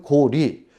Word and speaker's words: 고리: 즉 고구리 또는 고리, 뒤에 려자가 리로 발음이 돼야 된다는 그런 얘기입니다.